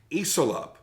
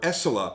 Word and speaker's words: ECILOP: is the tvt knives iselop or esselop I guess you could pronounce it that way and this was based